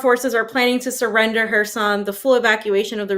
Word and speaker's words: Kherson: But what are we seeing right over here, fam, when it comes to, is it Kherson? Am I saying it right? Kherson? Yeah, Kherson. Yeah. The K silent.